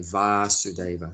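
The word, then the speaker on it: Vāsudeva: son of vasudeva so his father's name just has a short a vasudeva and krishna's name has a long a VAR sudeva so vasudeva is the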